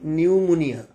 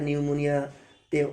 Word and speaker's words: pneumonia: with pneumonia, এখানে দেখো নিউমোনিয়া বানানটা শুরু হচ্ছে পি দিয়ে, কিন্তু পি এর উচ্চারণটা নিউমোনিয়াতে হবে না।